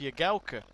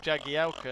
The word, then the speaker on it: Jagielka: liz jagalka but the commentators call him phil jagielka and when you ask liz my teacher she says no it's pronounced your galca and so yeah basically phil your galco is